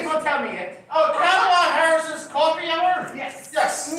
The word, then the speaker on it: Kamala: Oh, Kamala Harris's Coffee Hour? Yes. Yes. Yes, that is what this is called. Say it again. Kamala, not Kamala, Kamala. Say it right.